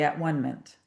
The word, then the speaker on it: atonement: I always say at-one-ment. I know it's pronounced atonement, but at-one-ment just sounds more true to me.